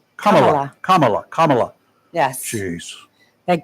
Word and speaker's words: Kamala: her name is is pronounced comma la like the punctuation mark comma and then L comma Kamala Kamala Kamala Kamala Kamala yes jeez